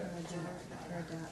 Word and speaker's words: Jaradat: Smarty, how do you pronounce that? Jordan. Jardat.